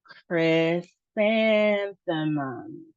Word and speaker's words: chrysanthemum: So, this is a short i, so it's going to be crys chrysanthemum chrysanthemum Very good.